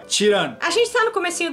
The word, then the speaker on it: Çırağan: que durante o vídeo a gente acaba pronunciando o nome do hotel errado chamando ele disse lá ganhe porque é assim que se escreve mas a pronúncia em turco é tirando a gente está no